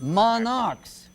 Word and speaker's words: monarchs: Monarchs. Because remember, that CH is a CH, but over here it's pronounced like a what? Monarch. Like C. Pronounced like a K.